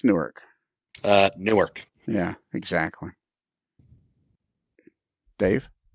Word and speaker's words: Newark: how do you pronounce Newark uh Newark yeah exactly Dave anything you mean nork Newark yeah Newark Newark yeah Newark n-o-r-k Newark yeah it's just